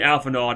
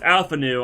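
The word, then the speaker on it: Alphinaud: gonna keep calling you alphanard I'm sorry I'm too used to this I know it's Alpha new I know D is silent but I'ma call him Alpha nod I don't know it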